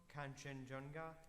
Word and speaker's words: Kanchenjunga: And if I'm not mistaken, that is Mount Kanchenjunga. Did I say it wrong? Kanchenjunga? No, sir. You pronounced it most correctly.